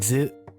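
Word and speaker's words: づ: It's DZU, zu. Su. Zu. Because the twiddly's there. De. And do. Da, di, zu, de, do. Zu. Notice how I'm like, it's a short pronunciation of Z and zu, zu, zu.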